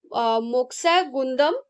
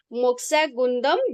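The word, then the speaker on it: Mokshagundam: economic planning के हम मोक्षा गुंदम pronunciation मैं भूल लिखी तने प्रोनाउंस करबो एम ओ के एस एच ए जी यू एन डी ए एम मोक्षा गुंदम Visvesvaraya मोक्षा गुंदम Vishweshwara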